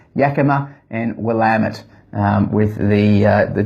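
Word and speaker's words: Willamette: one is um well I used to call it will uh the willit region I've since been told it's not willit it's wamit if you want to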